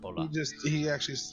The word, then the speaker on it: Bola: Could you just spell it out? Yeah. 'Cause I think you're saying E. Cola? Impura. Bola. Oh, Bola. There's no E. Uh, Or I. Just Bola. he grabs a piece of